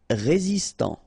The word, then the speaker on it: résistant: Résistant, final T not pronounced, résistant.